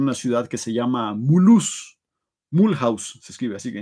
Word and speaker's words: Mulhouse: que está en una ciudad que se llama mulus mulhouse se escribe Así que en inglés sería mbl House